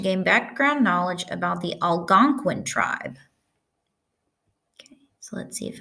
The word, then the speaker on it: Algonquin: going so it says how do you pronounce Algonquin how do you spell it so how Gong Qin is pronounced Algonquin oh okay taught me something Algonquin is the